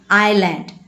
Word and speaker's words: island: Here s is silent. So we need to read island.